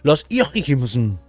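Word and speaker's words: Houyhnhnms: Losims, así se pronuncian, así los críticos lo llaman la ciudad de los caballos, la el país de los caballos dotados de razón.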